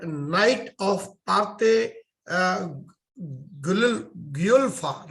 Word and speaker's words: Guelfa: And if I'm correctly pronouncing it, it is called Knight of Parte Guelfa, right? Is that correct, Chris? Guelfa, yeah.